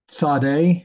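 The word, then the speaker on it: צ: for the final letter Sade it's a TS sound it also has a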